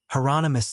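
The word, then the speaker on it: Hieronymus: Is that heronomous? Bosch said rhymes with anonymous. Heronomous.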